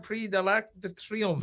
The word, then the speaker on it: Prix de l'Arc de Triomphe: No, give it its proper pronunciation, please. Prix de l'Arc de Triomphe.